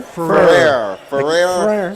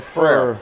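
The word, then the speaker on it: Petit-Frere: Is it Fair or Ferrer? Ferrer. So they got to mix it too. Frere. Not like 6 syllables, just one.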